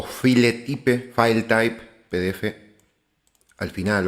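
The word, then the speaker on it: filetype: Así se escribe, file type sería la pronunciación, PDF o PDF al final seguramente ya les va a aparecer.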